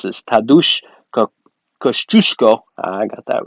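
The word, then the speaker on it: Kościuszko: that douche I'm polish I should be able pronounce this tattoo sh Kosciuszko I got that right infantry division 200 plus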